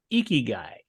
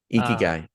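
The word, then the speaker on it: ikigai: a Japanese um philosophy okay uh called uh eeky guy eeky guy yeah and and if I'm not pronouncing it correctly don't don't don't comment I'm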